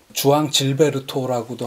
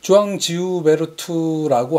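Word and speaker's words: João Gilberto: 스탄 게츠와 주앙 질베르토라고도 하고 주앙 지우베르토라고 하는 게 정확한 발음이라고 하는데 왠지 질베르토가 영어 발음으로는 그냥 질베르토.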